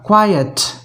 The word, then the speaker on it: quiet: इसका उच्चारण जो है वो हो जाएगा क्वाइट। देखें, क्वाइट, क्वाइट, क्वाइट, QUIET, क्वाइट।